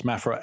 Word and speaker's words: Mafra: Just for reference, Mafra, Mafra. Just in case we mispronounce that to mean something else.